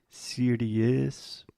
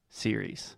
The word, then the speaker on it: series: A lot of our students have the tendency to say something like serious because we have the IE at the end. But the correct pronunciation is simply series.